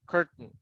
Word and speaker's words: curtain: Like in this case, the intonation goes in the curtain. You eliminate tain, curtain.